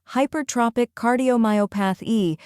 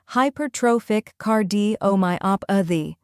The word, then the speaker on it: Hypertrophic Cardiomyopathy: the correct pronunciation is hypertrophic card D oh my op a the let's break it first part High pair like High plus pair second part Tropic emphasize tro like grow third part cardo like